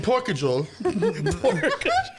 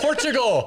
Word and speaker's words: Portugal: Say porch. Porch. Like a front porch.